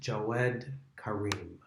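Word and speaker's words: Jawed Karim: man who i believe his name is pronounced joad karim and the name of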